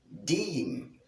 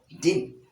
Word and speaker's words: deem: So we have the transcription of the word deem. Deem. You prolong the pronunciation simply because of this long E sound. You cannot pronounce it as dim, but deem.